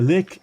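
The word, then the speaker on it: lek: Le is or le uh if you pronounce I think more correctly. a lick.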